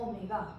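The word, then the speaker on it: ω: ये जो है हमारे पास सिंबल, इसको प्रोनाउंस कैसे करेंगे आप लोग, ओमेगा।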